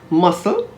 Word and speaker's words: muscle: d-e-b-t-o-r and doubtful d-o-u-b-t-f-u-l the letter c is generally silent if it comes before the letter s and before the letters i or e for example conscious c-o-n-s-e fluorescent f-l-u-o-r-e-s-c-e-n-t c-s-c-e-n-e scent s-c-e-n-t muscle m-u-s-c-l-e scissors s-c-i-s-s-o-r-s disciple d-i-s-c-i-p-l-e